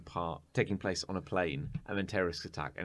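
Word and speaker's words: Playne: taking place on a plane and then terrorist attack and it's called plane but it's spelled p-l-a-y-n-e playing yeah um yeah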